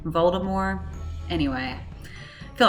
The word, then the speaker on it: Voldemort: it to be pronounced it doesn't have a hard T on the end the guy says Baltimore all the way up to like the Goblet of Fire I think the best last that's the last book he pronounces it like that but yeah the movies went with Voldemort but I think it's supposed to be like a French pronunciation Baltimore anyway I feel like